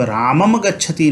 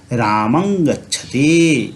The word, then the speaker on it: रामं गच्छति: इसीलिए जब हम पढ़ेंगे तब रामम गच्छति नहीं पढ़ेंगे, हम पढ़ेंगे रामं गच्छति। इस अनुस्वार का उच्चारण हम लोग यहाँ अंग के अनुसार करेंगे, तो रामं गच्छति हम लोग करेंगे।